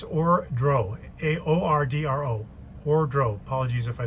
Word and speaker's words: Ordro: way just case i said it wrong it's or dro a-o-r-d-r-o wardrobe apologies if i said it wrong